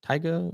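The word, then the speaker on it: Tyga: I mean, I think uh I think Tiger Tiger is how you say his name.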